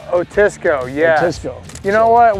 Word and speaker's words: Otisco: Otisco? Otisco, yeah.